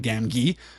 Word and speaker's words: Gamgee: I have heard people argue that it should in fact be Sam Gamgee.